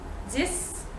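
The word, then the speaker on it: dix: So it's the number 6 and the number 10, so 6 and 10. The X at the end is going to be pronounced as S. 10, 6.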